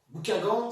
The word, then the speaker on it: Buckingham: Bouquingan, c'est le duc de Buckingham, c'est la façon de prononcer de l'époque.